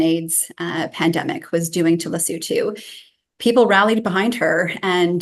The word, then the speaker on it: Lesotho: So we would pronounce it as Lesotho. That's not perfect either. There is a slightly different way that in the local language, which is Sesotho, that it would come across. But yes, we would say Lesotho.